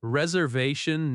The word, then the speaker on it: reservation: Stress reservation naturally on the third syllable.